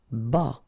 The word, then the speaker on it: bas: Bas. Final S not pronounced.